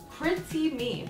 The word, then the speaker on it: PrettieMe: actually and it's semi-permanent and it is from Chrissy me but it is spelled PR et Cie and then me the